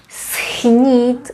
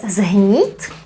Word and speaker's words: schnít: Schnít, we pronounce ch, progressive assimilation, that also happens. So it's schnít. Well, in some regions it's also pronounced as zhnít, but the majority of the Republic would say schnít.